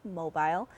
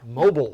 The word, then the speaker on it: Mobile: at a hospital in Mobile. This year, he, along with friends, family, and others, filled 2 trailers with several thousand presents worth up to $30,000. And down south, they pronounce that mobile. Mobile.